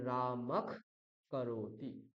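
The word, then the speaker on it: রামঃ করোতি: তাহলে আমার নিয়ম কি বিসর্গের পরে যদি ককার বা খার থাকে তাহলে বিসর্গটাকে কি করবো আমরা খয় হলন্ত উচ্চারণ করবো খ তাহলে রামাখ করতি রামাখ করতি মনে থাকবে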